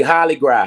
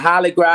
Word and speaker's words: Hollygras: It's gonna be Holly Gras. Holly Gras. I got Holly Gras. I got Holly Gras 2.0. It's spelled like Hollywood, but Holly Gras like Mardi Gras.